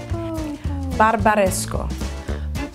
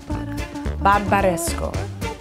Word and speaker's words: Barbaresco: we're going to focus on how to correctly pronounce wines from Italy Vino Italiano we're going to start with red wineo barbaresco barbaresco barbaresco Bara Bara Paro Baro Brunello deant Chino